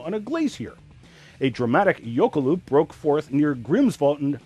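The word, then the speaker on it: jökulhlaup: mercifully i'm on television so i have to pronounce the icelandic word yokoloop which is a catastrophic breach of an ice dam on a glacier a dramatic yokoloop broke forth near grimsvot in iceland on november 5th 1996.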